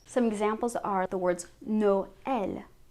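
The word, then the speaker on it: Noël: examples are the words no el noel christmas we wouldn't say null we which means naive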